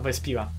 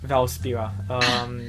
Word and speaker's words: Valspira: So not at Samaya, at Vespira. Sorry, Vespira. Okay. Yeah, Val. Yeah. Valspira. So bad. I'm very bad at pronouncing names. I say remember V-A-L.